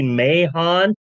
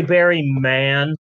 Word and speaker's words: Mahon: a guy named Barry Mahon and I'm sure the H is silent like Vince McMahon but uh I believe that all letters matter yeah sorry Barry man you're Barry Mahon now